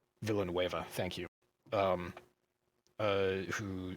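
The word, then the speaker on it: Villeneuve: just came out i don't know how to pronounce his last name villanueva thank you um uh who just uh directed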